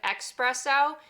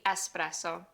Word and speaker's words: espresso: Remember, there's no X in the Italian alphabet, so instead of espresso, it's really espresso.